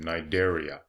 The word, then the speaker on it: Cnidaria: And there I just gave you the phylum name, Cnidaria. And it's named after those stinging cells. The stinging cells are known as cnidocytes, and the phylum name is Cnidaria, and they both have a silent C.